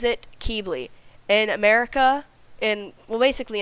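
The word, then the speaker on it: Qibli: differently depending on where you live but Tui pronounces it Keeble in America in well basically United States and Canada they pronounce it uh keybli but it can be pronounced kibli in English accents so depending on where you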